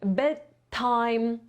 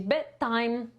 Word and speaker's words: bedtime: be Taken the time ciekawostka dla osób bardziej zaawansowanych ponieważ tutaj mamy na końcu then A to na początku ten to te dwa dźwięki ponieważ zmusiły bardzo podobne to jeden z nich zostanie całkowicie usunięty nie będziemy w wymowie tylko nie będziemy mówić bedtime tylko powiemy betime betime czyli to DW mówi de facto zostanie usunięte a ten wyraz połączyłem się z tym czy będziemy mieć bedtime okej betime z o.o